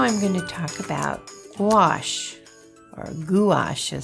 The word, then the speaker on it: gouache: Now I'm going to talk about gouache, or gouache, as some people might think it is when they look at the spelling, because it's spelled Gouach. So what in the world is gouache?